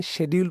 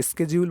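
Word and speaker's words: schedule: একটি অপশনকে দেখতে পাচ্ছেন শিডিউল পোস্ট, বা অনেকে স্কেডিউল বলে থাকে, তো দুটোই শুদ্ধ উচ্চারণ।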